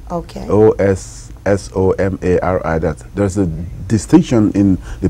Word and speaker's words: Osomari: My town is Osomari. Okay. Osomari. There's a distinction in the pronunciation or spelling.